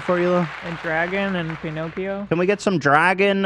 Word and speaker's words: Pinocchio: Pinocchio, Pinocchio. Thank you, Anesthetic Haze, for correcting my pronunciation.